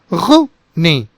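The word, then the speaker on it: René: This is with a strong glottal sound and the entire word is very short and abrupt. So you can say it Rene, Rene. So there are no silent words in this and every sound is pronounced.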